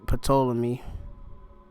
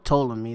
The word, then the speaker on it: Ptolemy: Just put Ptolemy, or Ptolemy, that's how you pronounce it, yeah.